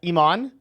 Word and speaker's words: Imane: would okay i know in english the easiest way to pronounce it is iman but the way that i like it the most is like in french which is like Iman that's too hard for